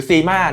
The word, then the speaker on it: CYMA: ครับ จาก ผู้ ผลิต ยี่ห้อ Sim นะ ครับ ผม หรือ zima นะ ครับ แล้ว แต่ ใคร อาจ จะ ออก เสียง นะ ครับ cyma นะ ครับ ผม sima zima นะ ครับ ผม ก็